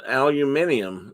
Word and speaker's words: aluminium: conversations was aluminum and aluminium now i'm not talking about different definitions here i'm just talking about how different people say it and the brits say aluminium and we say aluminum carol said the birds are